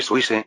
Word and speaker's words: Suisse: No, exactamente, pero yo soy suis, ¿no? La rebelión contra Austria marcó el comienzo de la Confederación Suiza. Suisse es la pronunciación francesa de Suiza.